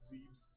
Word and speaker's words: Zebes: I know it's Zebs, but I'll just pronounce it Zebes.